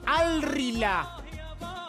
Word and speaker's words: Al Rihla: O sea, se escribe por ahí la H, está en el medio, por ahí puede confundir. Sí, pero casi no se pronuncia.